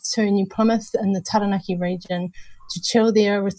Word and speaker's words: Taranaki: Taranaki, when you say it correctly, or if you say it with a really bad Kiwi Pākehā accent, Taranaki.